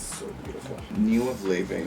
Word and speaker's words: Laufey: Her name is Laufey. It's pronounced like Laufey. It's an Icelandic name.